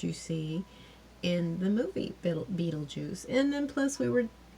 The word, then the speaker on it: Beetlejuice: out because it's not it's pronounced Beetlejuice but it looks like Beetle guys or something I think